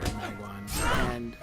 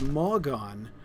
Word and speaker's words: Malgon: I'm just afraid you're kind of letting yourself go here, Magwan, or Malgon. I've been saying your name wrong. It's Malgon.